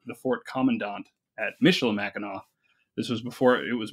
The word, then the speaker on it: Mackinac: that I got a summer job at Fort Mackinac like you said and I know for anybody